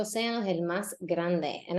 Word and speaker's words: océano: Make sure that you are stressing se. Océano. The force of the word needs to be on the sound se. Océano.